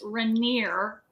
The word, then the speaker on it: Rainier: had to look up how to say his name and it's rainier rainier rainier like rainier the third and he is the